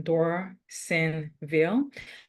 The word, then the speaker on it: Dorsainville: My name is Dorsainville, as in Dorsainville. It's funny because I remember I was speaking to somebody before, and they were saying that, how do you say your name? So if you speak French, like I just find out that you speak French as well, it's Dor dans les seins de la ville.